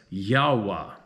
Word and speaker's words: Yahweh: stage of the game I pronounce as Yahweh like some native tribes say highly highly recommend research